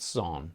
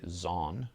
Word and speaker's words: Son: which is under there at son or some say zon because it's spelled zoo in on some things to the German shock